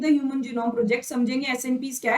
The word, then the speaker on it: SNPs: difference, SNP, single nucleotide polymorphism is, it is pronounced as SNPs, occur in humans.